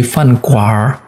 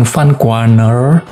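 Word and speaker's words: 饭馆儿: Jadi fan kuar, bacanya fan kuar. N kemudian langsung R ya, tapi kita bacanya bukan Van Kuaner, tetapi konsonan yang di huruf aslinya tidak kita baca. Jadi kita nggak ngomong Van Kuaner, tapi Van Kuar.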